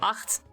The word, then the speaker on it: Acht: Also fun thing is that acht, which is how the name is pronounced, is just Dutch for 8.